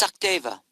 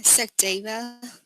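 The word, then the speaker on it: Sachdeva: It's Sakdeva. Yeah, Sakdeva. Okay, can you spell that for me?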